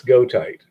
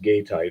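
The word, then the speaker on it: goethite: of that but uh technically it's go tight or it can be pronounced gay tight also but uh which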